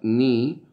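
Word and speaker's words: knee: ni acá ni acá la primera palabra ni que se escribe k n doble hace referencia a la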